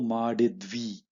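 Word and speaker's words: ಮಾಡಿದ್ವಿ: Spoken form navu madidvi, madidvi. See, you see the zid is cut and made into half matra, madidvi.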